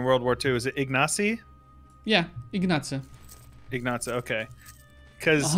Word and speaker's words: Ignacy: that i have for you how do you pronounce the the polish prime minister in world war ii is it ignacy yeah ignacio ignazo okay because uh the surname